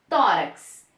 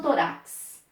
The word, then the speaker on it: tórax: Tórax. Eu falo tórax ou torax? Tórax. Esta é a sílaba mais forte. Então, eu tenho uma paroxítona terminada em X.